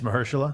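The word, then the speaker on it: Mahershala: uh Mersa Ali I just learned how to pronounce that by the way it's Mersa yeah I've always wonder but it's Mersa M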